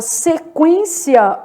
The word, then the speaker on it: sequência: Já na palavra sequência, olha o que está acontecendo. Sequência. Eu tenho um dígrafo, mas é o EN. O U é pronunciado, tá?